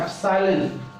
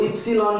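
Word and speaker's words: epsilon: ई नहीं है ये, इसको ध्यान से देखो तो इसको प्रोनाउंस करते हैं एप्सिलॉन, कई इसको इप्सिलॉन बोलते हैं, सी लगा के बीच में डाल दिया, एप्सिलॉन, एप्सिलॉन।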